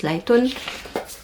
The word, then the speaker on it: Lighton: qui écrite en chinois lighton ça ça se prononce lightone et en fait quand